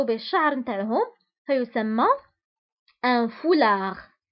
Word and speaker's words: foulard: وبالنسبة لهذا الثوب اللي كيرتديوه النساء كيغطوا به الشعر نتاعهم فيسمى un foulard. وبالنسبة للفولار تكتب بالدي في آخر الكلمة ولكن لا ننطقها.